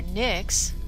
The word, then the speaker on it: NYX: tubes and the bottles that's the NYX or Nick's as it's supposed to be pronounced tinted moisturizer and yes du petit do